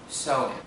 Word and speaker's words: Samhain: The Celtic festival that Halloween dates back to is pronounced Samhain.